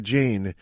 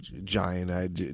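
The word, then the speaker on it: Jain: Giant Jane. I said giant. It's definitely Jane or I don't know how to pronounce it.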